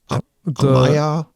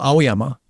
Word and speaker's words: Aoyama: Amaya? Well, Aoyama.